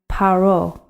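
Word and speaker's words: פרעה: pronounce it pharaoh but in the hebrew text in the tanakh we pronounce his name paro okay let's begin our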